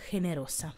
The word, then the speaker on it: generosa: ma ancora una volta attenzione alla pronuncia perché perché è generoso o generosa quindi generosa generosa si scrive uguale si pronuncia ovviamente in modo leggermente diverso proseguendo con sé l'osso